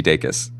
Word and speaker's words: Dacus: saying it correctly, Lucy Dacus. Yes. Welcome. Hi. Could you recreate for me the pronunciation advice that you just gave? I tell people it's like daytime and kiss kiss, like day kiss.